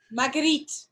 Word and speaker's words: Marguerite: So, hey, Margaret, how are you? Marguerite, not Margaret.